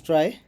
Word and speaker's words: trie: data structure a try pronounced as try or prefix tree is